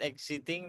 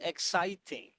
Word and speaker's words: exciting: Ah, this is not exiting, Miss Mar. It's exciting. Exciting.